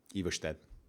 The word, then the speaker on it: Ivarstead: If you have an S that comes before an L or after an R, it tends to be slurred. So Oslo, they don't say Oslo, they say Oslo. And Everstead, that's how you would pronounce Everstead.